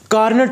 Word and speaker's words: Carnot: तो मैं आपको बता रहा हूँ कि इसको प्रोनाउंस कार्नो के नाम से भी कर सकते हैं हम।